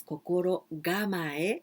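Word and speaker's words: 心構え: then you must prepare here we pronounce kokoro gamaye because this one other kanji so it's easier to pronounce preparedness or to be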